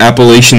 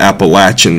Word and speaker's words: Appalachian: another one is um growing up it was always the what was the the mountains I can't I don't know if I can say it wrong anymore but it's the Appalachian Mountains Appalachian Mountains that's what